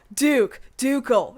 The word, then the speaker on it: ducal: It's a hard C. Oh, Ducal, yeah.